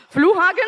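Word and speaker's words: Flughafen: just you making accent flu hogen is how you say airport and g is how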